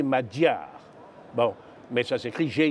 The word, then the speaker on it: Magyar: oui tout cet endroit sont des magyars qu il faut prononcer en réalité madjer bon message écrit j'ai